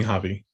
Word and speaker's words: Javi: i pronounce it correctly you can call me hobby javi okay love that javi